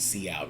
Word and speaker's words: cout: out the keyword c out that's how it's pronounced c out and what c out really means is hey